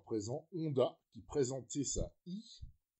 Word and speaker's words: e: Honda, qui présentait sa I, alors c'est prononcé à l'anglaise, hein, mais c'est une E, chez nous on dirait, pour notre plus grand plaisir.